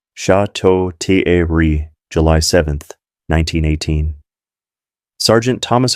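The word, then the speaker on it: Château-Thierry: Corporal William Henderson from Georgia, 24 years old, died of wounds at Chateau Thierry, pronounced Chateau Thierry, July 7th, 1918.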